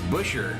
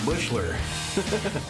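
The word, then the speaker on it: Buescher: It's Busher, not Bushler.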